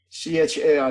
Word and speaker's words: char: CHAR, just this. Oh, just that. Yeah. You can also call it char or something. Some people pronounce it char, but I would say character.